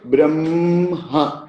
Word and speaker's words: Brahma: We say Brahma, ma plus ha. This is how we pronounce. But we write as H plus ma, and then we pronounce it ma plus ha.